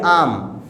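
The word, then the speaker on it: I'm: Okay, तो आप यहाँ पर आई एम को शॉर्ट में बोलेंगे आम, यानी आम, जैसे वो मैंगो होता है यू नो आम खाने वाला, बस वही सेम प्रोनाउंसिएशन निकलेगा आम।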